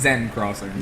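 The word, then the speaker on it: Seine Crossing: in the water i was on uh uh cn crossing or whatever that technically pronounced zen crossing zen crossing for uh in a rush level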